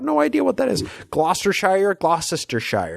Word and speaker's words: Gloucestershire: Gloucestershire. It's like Worcestershire sauce.